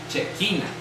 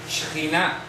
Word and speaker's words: Shejináh: Y aquí dicen Shekinah. Shekinah. Shejinah. ¿De acuerdo? Shejinah. Así se pronuncia.